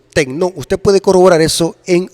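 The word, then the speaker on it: τέκνον: juan 112 se usa la palabra tecno si se pronuncia techno usted puede corroborar eso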